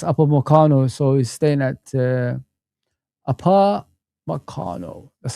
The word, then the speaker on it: Upamecano: Upamecano approves new deal at Bayern Munich.